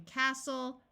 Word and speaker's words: castle: end of the word is soul like in Castle wrestle note that when a word starts with w r the W is silent so this word is wrestle Apostle and